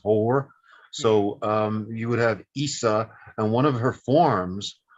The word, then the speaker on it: Isis: In the authentic Egyptian pronunciation, it's just Isa, just like Horus is Hor. So you would have Isa, and one of her